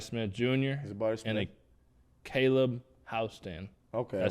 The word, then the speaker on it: Houston: And a Caleb Houston. Okay. I said it right. Houston?